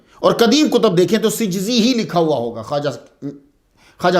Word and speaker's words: سجزی: سید معین الدین حسن سجزی، تو یہ صحیح تلفظ جو ہے سین جیم زا یہ ہے سجزی۔ یہ کاتب کی غلطی کی وجہ سے سنجری مشہور ہو گیا۔ نقطے نے ہی جو